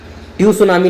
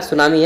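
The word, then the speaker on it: tsunami: अगला क्वेश्चन है कि सुनामी कम्स, सुनामी जो है टी को साइलेंट यहाँ पे रखा जाता है, ट्यू सुनामी ना पढ़ दीजिएगा, सुनामी है।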